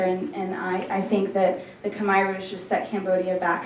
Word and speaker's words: Khmer: in my cell today the language of Cambodia is called Khmer or the way they pronounce it is combined khm ER and it is